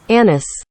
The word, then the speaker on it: anise: sounds kind of affected, so I generally go with the anglicized version. Problem with the anglicized version is that A-niss kind of sounds like, well, you know. So it's really a lose-lose situation for me. But lest anyone think I'm just being weird, know that I'm not the only person who says “A-niss.”